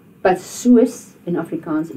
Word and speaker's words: soos: En toe, soos, jy weet. So remember, the soos is not soos. You don't pronounce that double O as a oo. You pronounce it as a oe.